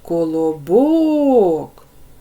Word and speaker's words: Колобок: перший малюночок в нас Колобок ділимо на склади Колобок три склади вимовляємо це слово Колобок третій склад Ми вимовились з більшою силою голосу Отже третій склад наголошений вимовте слово гном у